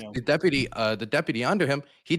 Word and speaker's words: Bongino: chat And then Dan Bonagino, I believe his name is pronounced, Bongino.